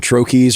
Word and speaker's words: troche: pouch they're like they're i call them troches or troches there you go i think is is excuse me i think actually the way people say it but i think if you look it up i think it's from the french i think you're supposed to say something like that the common pronunciation is troche so let's just stick with it so and i guess